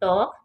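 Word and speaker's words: talk: टॉक, TAL के टॉक, बातें करना, इसमें एल साइलेंट है।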